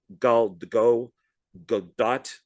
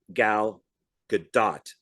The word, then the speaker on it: Gal Gadot: type of agent, and Go Godot. I always say her name wrong. Gal Gadot.